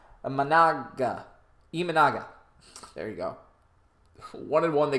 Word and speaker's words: Imanaga: came out of the left-handed arm slot of Amada. Gosh, I keep making that name wrong. Imanaga.